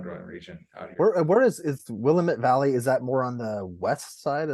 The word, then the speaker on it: Willamette: I got corrected several times but it's the Willamette damn it no you should be well like you shouldn't be mispronounced uh Texas Texas names like and I